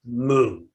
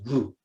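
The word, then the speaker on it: 無: The most famous koan, mu. Does the dog have Buddha nature or not? In Japanese, joshu, pronounced in Japanese, mu, or Chinese, wu, which means no, nope, doesn't.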